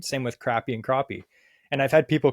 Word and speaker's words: crappie: the back of the shirt it says it's pronounced crappie like no it's crappy last time I noticed the word the letter